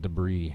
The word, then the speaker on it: debris: Not debris, it's debris. And yes, I know Americans pronounce it wrong.